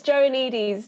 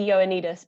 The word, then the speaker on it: Joannides: It's Johannides, but Johannides, even that's better. It's a very anglicized way of saying it. It's actually supposed to be Ioannidis, but I don't even try. Okay. Well, why don't we say Ioannidis? Let's say it properly.